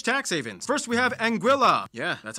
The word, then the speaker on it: Anguilla: are pretty much tax havens first we have anguilla yeah that's how you pronounce it named after the spanish word for